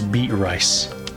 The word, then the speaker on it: Beatrice: So the name Beatrice, right? The way that Beatrice is spelled made no sense to me as a kid, so I read it Beat Rice.